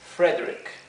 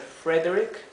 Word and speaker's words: Frederick: Frank Frank y fredrick Frederick sí podemos pronunciar la e o podemos omitir la e puede ser Frederick o Frederick bien o el disminutivo que